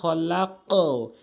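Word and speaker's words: خلق: বুঝে নেবেন এটি লাম খ করলে কিন্তু খলাক উপরের দিকে সাউন্ড হবে কফ রয়েছে তাহলে কি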